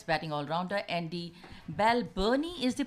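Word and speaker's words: Balbirnie: ball Sterling that's batting all around her Andy Bell Bernie is the pronunciation of Belle vereeniging well Bell Bernie you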